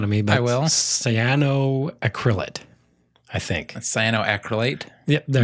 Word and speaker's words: cyanoacrylate: I'm going to have a hard time pronouncing this one. Yeah. Ron's going to make fun of me, but I will. cyanoacrylate, I think.